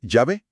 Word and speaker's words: Yahvé: Entonces, si Jehová es un error, ¿cómo estamos tan seguros de que la pronunciación correcta es Yahvé?